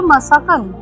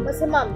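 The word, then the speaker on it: Massaman: ভেতরে আছে আর আমরা নিয়েছি একটা কিনেছি কি প্রোনাউন্সিয়েশনটা ছিল মাসাকান মাসাবান না মাসাকান মাসামাম মাসাম মাসামাম কারি এটাও খুব ফেমাস আর এটা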